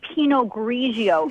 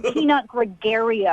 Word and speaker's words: Pinot Grigio: You don't even know how to say Pinot Grigio. It's not Peanut Gregario.